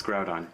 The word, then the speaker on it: Groudon: It's Groudon. Yeah, it is Groudon, Okay.